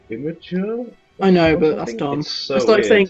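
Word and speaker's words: Imgur: jokes better on like inor and stuff entirely sure why I freak that website cuz it's a pretty terrible place I don't know depends apparently you're supposed to pronounce it like imager I know but that's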